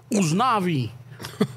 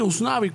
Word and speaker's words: Usnavi: I'm like, oh, yeah, so, pero aquí veo que, ¿cómo se pronuncia? Usnavi. Usnavi. Sí, Usnavi.